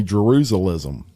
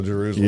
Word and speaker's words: Jerusalem: said the Holy Land Jerusalem yep and I pronounced it right I used to say jerusalm and know Jerusalem yeah my mom went a couple times and